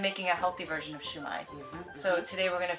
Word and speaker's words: shumai: So they actually have so China is where the shumai or sumai, and then the English translation is shumai. Okay. But sumai is really how most Chinese cultures like pronounce it and they make it.